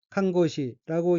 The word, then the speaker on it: 看護師: 다음 어휘는 한자가 목욕이고 각기 머리 감을 목욕할 욕자이고 일본어로는 모쿠요쿠라고 읽으며 모쿠요쿠는 목욕이란 뜻입니다. 다음 어휘는 한자가 간호사이고 일본어로는 칸고시라고 읽으며 칸고시는 간호사라는 뜻입니다.